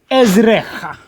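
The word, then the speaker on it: עֶזְרְךָ: When we have two shvas in the middle of a word, we pause on the first shva, it's non-vocal, ez, and then we pronounce the second as an open syllable, ezrecha.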